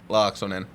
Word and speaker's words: Laaksonen: I say it like Laaksonen. Laaksonen. Got it. I guarantee you I'm going to get it right by the time you leave. Locks on in.